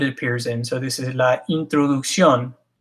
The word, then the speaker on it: introducción: So this is la introducción. I use this one on purpose because English speakers have a tendency to say words like this because it looks like introduction.